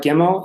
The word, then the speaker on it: Gimel: Hard Gimel is a G sound, and soft Gimel is like kind of a J sound, more or less.